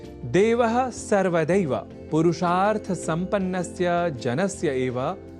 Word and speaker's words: देवः: यहाँ देवः इस शब्द के उच्चारण में ए इस अक्षर का विशेष ध्यान रखे जाने की आवश्यकता होती है, अर्थात ऐ इस अक्षर का प्रयोग हमें नहीं करना होता, क्योंकि देव तो ईश्वर